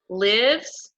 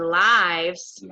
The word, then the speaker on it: lives: So this is how we spell it, but we say it lives when it's a verb and lives when it's a noun, okay?